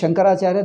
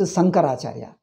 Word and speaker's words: Shankaracharya: Now they pronounce Shankaracharya, they pronounce Sankaracharya. Even the great Sanskrit scholars, Pithadipatis pronounce Sankaracharya, they say. Sankaracharya. So the sha, sa, this distinction is gone.